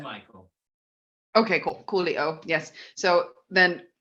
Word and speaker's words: Mychael: I'm just like filling the air now while it's pronounced Michael, right? He does his video thing. Yes, but Michael.